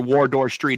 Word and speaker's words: Wardour Street: out 13th studio album, Wardour Street. I might be saying that wrong because I'm an American, but I don't know where Wardour Street is. Am I saying it right? Yeah, Wardour Street.